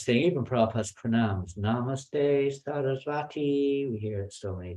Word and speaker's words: Sarasvati: even Prabhupada's pranams, Namaste Sarasvati. We hear it so many times. It's not Sarasvati. It's not the goddess of learning. It's Sarasvati. Different. Srila Bhakti Siddhanta Sarasvati. It refers to him.